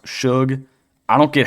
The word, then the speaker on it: Sug: Also, shout out to the comments section who told me it's pronounced Suge.